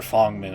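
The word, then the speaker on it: Feng Min: I gotta say, that was actually I'm not a big Fangmin or Fongmin, I guess, is the proper pronunciation.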